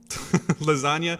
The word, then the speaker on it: lasagna: Lasagna. No, because that's the second syllable that's stressed.